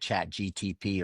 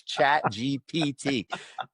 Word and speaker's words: ChatGPT: The P before the T. Remember, physical therapy for your brain. It's ChatGPT.